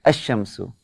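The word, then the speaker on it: الشمس: when I read it I say HM sue as if this doesn't exist where as if this one doesn't exist I'll put 0 under under it so you understand that we don't know pronunciation is like zero there it's a sham so I go straight from this letter to this letter a sham so I don't say Allah I say a sham sue though we write it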